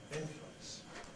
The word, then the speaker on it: influence: example becoming W influence we we can say this as three syllables inty or we can say it as two syllables INF influence and both a possible someone who's in prison